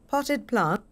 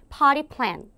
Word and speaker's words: potted plant: Potted plant. Potted plant. 들려요? Potted plant. 자, 얘 발음 어떻게 합니까? Potted plant, potted plant 또는 미국 아이가 발음을 할 경우는 potty plant.